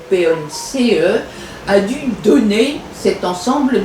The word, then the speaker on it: Pons: y a plusieurs autographes ça s'écrit P o n s ou ponce a dû donner cet